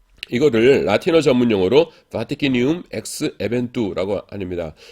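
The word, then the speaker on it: vaticinium: 이거를 라틴어 전문 용어로 바티키니움 엑스 에벤투라고 합니다. 이거 바티키니움이라고 읽어요. 시니움이라고 안 읽고 그냥 참고로 알아두십시오. 라틴어에서는 K가 없어요. 그래서 C가 K를 대신합니다.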